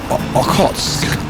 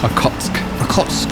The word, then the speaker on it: Okhotsk: The Sea of Okhotsk. I'm not saying it right. Okhotsk. Not Okhotsk.